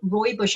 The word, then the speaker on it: rooibos: obviously the best one to choose, or so rooibos I call it, but I'm sure I'm not pronouncing that right.